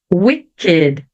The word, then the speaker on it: wicked: bom sempre tem exceções então aqui a palavrinha naked crooked Wicked elas vão ser pronunciadas ou Ed Mesmo não tendo a terminação com a letter d ou com a letter t tá então naked crooked